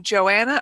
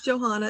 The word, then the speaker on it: Johanna: Yeah, sometimes it's Johanna and sometimes it's Joanna. Most often, if there's an H, you do pronounce it, but I have seen some who don't. Okay.